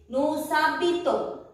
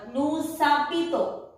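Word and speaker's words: nous habitons: And here it is Nusabito. H-I-B-I-T-O-N-S. S is followed by a vowel. So it will be pronounced. Otherwise S will not be pronounced.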